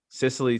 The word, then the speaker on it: Cicely: Cicely Tyson.